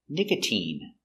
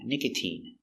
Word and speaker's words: nicotine: I long I Valentine but you have words like nicotine where the sound is e a long e sound nicotine and you have words